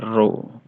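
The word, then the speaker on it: rho: dari massa jenis adalah roh massa jenis bedain ya ini dibacanya roh bedain massa jenis dengan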